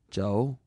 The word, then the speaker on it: Chou: "Joe?" "Spell it Chou if you want to be exotic.